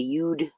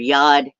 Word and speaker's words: yod: And in astrology, there's a yod, or depending on how Hebrew is pronounced, some will call it a yud or a yod.